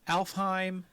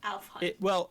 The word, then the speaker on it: Alfheim: It's spelled Alfheim with an A. But it's actually Elfheim.